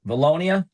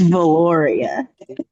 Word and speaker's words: Valoria: Is it volu Miss Lemons? Voluonia. Am I pronouncing it right? It's Valoria.